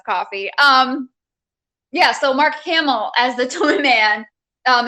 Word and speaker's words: Hamill: does for the joker hamilton am i saying his name wrong you talking about camel yes i am mark hamill i know you know